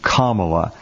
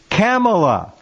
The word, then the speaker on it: Kamala: continue to try to say her name is pronounced kamala well i saw miss kamala when she didn't